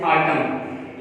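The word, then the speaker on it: autumn: जैसे ऑटम, ये सीजन के लिए इस्तेमाल होता है, यहाँ पे N साइलेंट है, और ये N से पहले M है, बिफोर यानी M है इससे पहले, तो यहाँ पर ये साइलेंट है।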